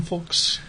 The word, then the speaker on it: folks: on that dollar box do you pronounce the L in folks I don't you just say F folks folks folks folks I say folks should go either way food folks and fun folks folks I guess I do say the